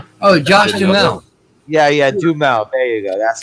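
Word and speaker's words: Duhamel: fergie it's that oh josh jamelle yeah yeah do mouth there you go that's how you say it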